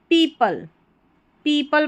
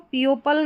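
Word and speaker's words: people: सून many पीपल पढ़ेंगे इसको, पियोपल नहीं पढ़ेंगे, पियोपल नहीं, पीपल, PLE को पल पढ़ा जा रहा है.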